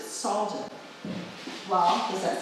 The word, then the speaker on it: Salge: How would S-A-L-G-E be pronounced? He would have pronounced it Salgen.